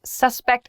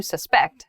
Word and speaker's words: suspect: depending on the grammar suspect and suspect have different pronunciations despite the same spelling so suspect in a